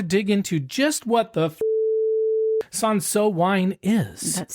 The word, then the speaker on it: Cinsault: Just like an L. You don't even say it's not like you're saying maybe it would be easier to pronounce without that little L.